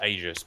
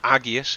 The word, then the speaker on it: aegis: shield blessed shield sorry crystal aegis or agis if you want to say it wrong and uh strafe so